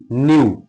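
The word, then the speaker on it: knew: ये साइलेंट है। जैसे न्यू के एन ई डब्ल्यू न्यू।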